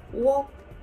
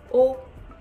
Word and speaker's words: を: as a particle and it is same pronunciation as this character oh now the Japanese say walk walk but mainly we say oh oh hi they were saigo